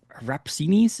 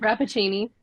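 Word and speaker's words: Rappaccini: U but no, so a queer gothic retelling of of Rapsinis, is that how you say it? Rapuccini.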